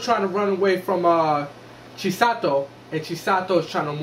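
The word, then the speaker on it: Chisato: Chi-sato. There you go. Oh, Chi-sato. Chi-sato. Okay. It's really hard to pronounce these days.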